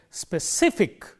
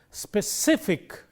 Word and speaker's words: specific: And then we have words ending in ik, ickle, and ickle. If you have words with these endings, the rule is again the same. The syllable immediately preceding these endings gets stress. Let's take, for example, a simple word like 3 syllables, specific, and the rule is the syllable immediately preceding ik is stress. Therefore, we say specific. When we say that, we highlight this syllable, specific, and characteristic, and so on.